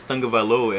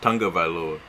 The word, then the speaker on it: Tagovailoa: Because Tua's last name is Tagovailoa, and I used to say it's Tagovailoa, but his it's Tagovailoa, and there's no N in after that.